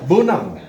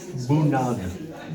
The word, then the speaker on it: bunad: bunad. Bunad. Bunad. No, not G. Bunad. B-U-N-A-D. Well, I've heard it pronounced both ways.